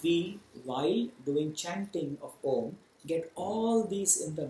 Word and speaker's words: Om: Yes, why Om only? It could be anything else. But why this A-U-M, when pronounced together, called Om?